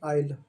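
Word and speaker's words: aisle: ना प्रोनंसिएशन होता है आईल। कृपया जो प्रोनसेस होता है जो उच्चारण होता है उससे ध्यान से देखिए। क्लास प्रोनाउंस मत कीजिए क्योंकि यहां पर जो एस है स्पेलिंग में वो है [नाक से की जाने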